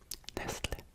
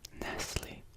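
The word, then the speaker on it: Nestlé: This one in American English is Nestle. We almost don't pronounce the T or at least I've never really heard it that way.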